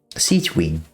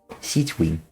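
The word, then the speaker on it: Sigewinne: pretty nice SE wing her name is actually adorable to pronounce like sieg Wing sieg Wing yeah oh yeah my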